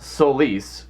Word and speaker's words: Solis: blue well solace is actually supposed to be pronounced Solis and it's the Latin term for Sun I